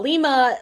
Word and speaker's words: Lima: Lima spelled like said differently than Lima Bean.